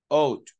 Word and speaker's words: ought: This one, ought. Ought. La G is silent. You don't say ought. No. Okay? That's the pronunciation.